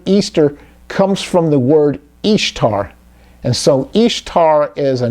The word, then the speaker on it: Ishtar: Semiramis became known as Ishtar, which is pronounced, just like it says, Ishtar, referred to Ashtoreth in Scripture, and her moon egg became known as Ishtar's egg.